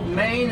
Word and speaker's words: Maine: Although, did you know Maine is the only state in the country with one syllable? Look at Ohio, right?